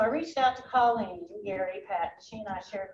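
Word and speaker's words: Geary: sister colleen gary g-e-a-r-y spelled g-e-a-r-y pronounced gary uh so i reached out to colleen gary pat she and i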